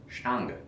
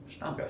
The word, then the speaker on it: Stange: And it's Stange. Stange. Stange. It's spelled like Stangy, but it's Stange.